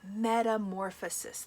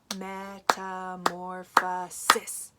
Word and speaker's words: metamorphosis: goes through what's called metamorphosis. That is a huge word. Let's try clapping it out. Metamorphosis. Whoa, how many was that? Metamorphosis. 5 syllables. That word is huge.